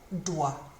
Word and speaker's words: doit: Il, elle, on doit. Same pronunciation as the other two, but with a T on the end this time.